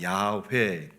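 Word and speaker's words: Yahweh: 여호와 이렇게 얘기하는데 정확한 발음으로는 야회 Y자로 시작을 합니다.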